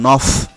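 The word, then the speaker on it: neuf: উচ্চারণ হয় তাই তো, কিন্তু এই নফ শব্দটি যখন এমন কোনো নাউনের পূর্বে বসবে যার শুরুতে 5টি ভাওয়েল আ, এ, ই, ও, উ এবং ইঘেক অথবা আশ থাকে, তখন এফের উচ্চারণ পরিবর্তিত হয়ে ভা হবে।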